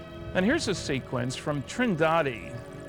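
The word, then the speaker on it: Trindade: of the picture and here's a sequence from trindad trendi I'm told it's pronounced 600 Mi east of the coast of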